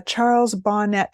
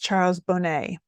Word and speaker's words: Charles Bonnet: me here we go there it is uh Charles Bonnett Syndrome and actually it's pronounced Charles Bonet he was a Swiss naturalist who first documented